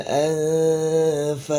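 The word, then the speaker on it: الأنفال: Nah, yang perlu diperhatikan juga lamnya ini jangan dibaca tebal ya. Karena tidak ada unsur tebal di sini, maka bacanya tipis saja ya. Anil anfal.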